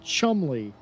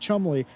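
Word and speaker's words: Cholmondeley: yeah he pronounces it Chumley that whole name is pronounced Chumley the D is silent as it turns out okay I I told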